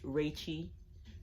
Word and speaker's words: RVCHI3: My Instagram name is pronounced Rachy. It's RVCHI3.